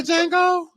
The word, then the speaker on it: Django: Isn't that called the Django? Just Django. The D is silent.